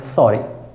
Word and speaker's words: sorry: So two R, that means this R will be pronounced because vowel after R.